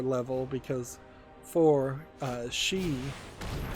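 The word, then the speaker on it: 四: level because for uh she is spelled like the word death or sounds like the word death in Japanese and that's why they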